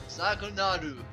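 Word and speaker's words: Zaghnol: Anyways, this is Zagnol. Zagnil. Zagnol. Zagnol. We already mentioned that last time. Zagunaru. Zagnol. That's how we pronounce it in Japanese, apparently.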